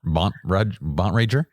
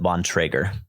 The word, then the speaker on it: Bontrager: It's the weirdest name, Bont Rager. It's the Bone Raiders. I pronounce it Bontrager. I'm sure that's probably how it's supposed to be, Bontrager.